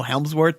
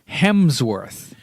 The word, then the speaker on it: Hemsworth: I guess this is gonna be the name mispronunciation product podcast because it's Chris Hemsworth know it's for I